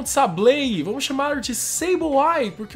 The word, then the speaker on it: Sableye: Dedenne, Cyndaquil, Popplio, funcionários da Aether, Sableye e outro Sableye.